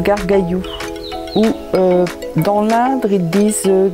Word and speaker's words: Gargalhous: planter 2003 les gargallo je reviens un petit peu sur ce nom étrange qui en fait se prononcent garde cailloux ou dans l'indre et